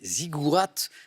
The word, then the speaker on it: ziggourats: Ziggourats, avec un T qui se prononce, Nicole, bravo.